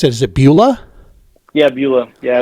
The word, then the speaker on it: Beulah: So how do you pronounce it? Is it Beulah? Yeah, Beulah.